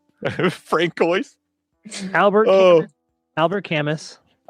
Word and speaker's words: Camus: Everybody's saying it's pronounced Kamu.